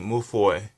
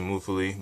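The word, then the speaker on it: Mewfeuille: Madolche Moufoy. That's the French way of saying it, the real way of saying it. But some people call it Madolche Moufoli, but that's not how you say it.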